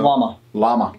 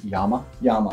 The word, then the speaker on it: Llama: llama revolvers uh so llama llama lot more i believe technically we pronounce yama yama okay because it's the double l you know that's fair